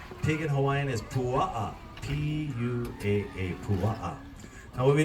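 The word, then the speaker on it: puaa: cooking a pig pig in Hawaiian is PU p u a a Pua now what we did early this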